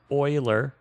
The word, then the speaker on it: Euler: yes i am where it's pronounced euler how do you get euler from euler how do you get oil which is oil from eul it's one of those